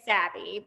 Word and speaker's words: Sabbe: does what is it it's like abby with an s so we say savvy but okay yeah tell